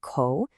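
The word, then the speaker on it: 口: This little square is the character co pronounced co.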